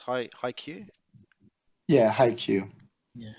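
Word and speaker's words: Haikyu: you guys seen uh is it was it pronounced High Q yeah I hate you yeah I've seen the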